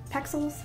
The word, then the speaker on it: Pexels: Pexels?